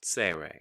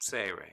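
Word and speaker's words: צירה: that we would call seirei seirei so let's take a look at those two dots seirei say ray so sere actually is an s sound and we remember that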